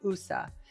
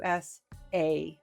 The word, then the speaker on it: USA: And I said, "No, you have to say each letter. It's not a word. You can't say USA. You have to say us a."